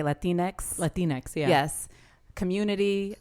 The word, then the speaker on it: Latinx: Latinx, yeah.